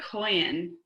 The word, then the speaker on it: Kohen: I am a Kohen. Kohen is how she pronounced Cohen.